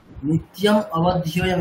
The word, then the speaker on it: নিত্যম অবধ্যম: নিত্য অবধ্যম আমি just pronounce করতে মানে যাতে সুবিধা হয় তার জন্য বলে আলাদা করে দিচ্ছি। আপনি নিত্যটাকে আলাদা করবেন, ঠিক আছে? নিত্য অবধ্যম, নিত্যম অবধ্যম এরকম না, নিত্যম অবধ্যম।